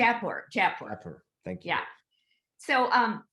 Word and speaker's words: Jaipur: Am I pronouncing that correctly? Am I saying that correctly? Jaipur.